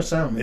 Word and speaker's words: salmon: Is salmon or salmon? It's salmon. Salmon. The L is silent.